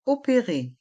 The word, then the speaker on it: opérer: se faire opéré et dans le mot opérer les dernières lettres e et R se prononcent e opéré faire une radio